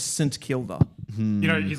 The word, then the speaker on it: St Kilda: I'm not I know I know people I know I know I know people say St. Kilder, but it's wrong. As in if you're talking about the the suburb. Yeah. The suburb is St. Kilda.